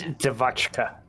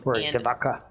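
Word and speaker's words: Devotchka: I think it's Dvachka. There it is. So um Dvaka the font that we used I don't know if that ch is a kai or a who knows.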